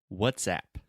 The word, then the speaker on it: WhatsApp: a good thing here a good pronunciation tip is what's that is that really relaxed sound where we just say uh uh what's and then app that is a very open a sound where it's just the